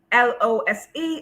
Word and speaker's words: lose: So pronounce the first one, Lose, as lose with a Z.